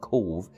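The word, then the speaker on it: Cobh: cove which is interesting there's a place in cork called cove but it's spelt c-o-b-h here it's c-o-v-e and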